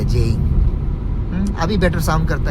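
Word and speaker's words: Jeying: तो पहले जी ई वाई आई एन जी लिखता था जेइंग को। तो अभी ऑब्वियसली प्रोनाउंसिएशन तो जे से शुरू होता है। तो अभी उसको वो लोग चेंज कर दिया। जी को हटा के जे ई वाई आई एन जी कर दिया।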